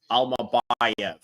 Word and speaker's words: Almabayev: Alma BV is how you pronounce his name. Sorry. Alma BV.